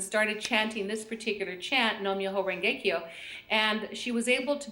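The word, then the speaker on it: Nam Myoho Renge Kyo: We're going to look at the first one in green, and it's pronounced Nom Yoho Rengekyo.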